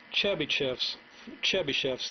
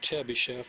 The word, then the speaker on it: Chebyshev: But that's the way I'm going to pronounce it, because that's the way you'll probably hear other people pronounce it.